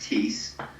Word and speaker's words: Ties: Tease Kumba. So it's quite an interesting spelling. It's pronounced Tease, but it's spelled like ties, plural, T-I-E-S.